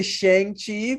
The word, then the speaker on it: Shang-Chi: I was trying not to say Shang-Chi because that's like how we normally pronounce that, but if you watch the movie, I'm it's definitely guilty of that. yeah, it's pronounced Shang-Chi.